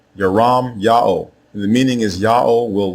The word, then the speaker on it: Jeremiah: The name of the prophet everyone mispronounces as Jeremiah is spelled two different ways in ancient Hebrew.